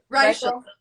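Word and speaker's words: Reichl: Even Ruth Raquel. Is that how I say her name properly? Raquel. Reichel.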